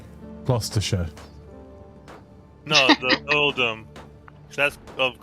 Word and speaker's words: Gloucestershire: Yeah, to be fair, like, just don't pronounce all the letters isn't a good guide for anything. Is this Oldham of Gloucestershire? Gloucestershire.